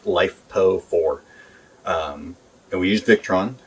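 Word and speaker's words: LiFePO4: uh lithium iron phosphate it's commonly pronounced lifepo for um and we use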